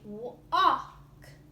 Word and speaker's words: walk: before a case so we're gonna have words like walk now I don't say whoa I say walk you don't hear the elves that's our silent l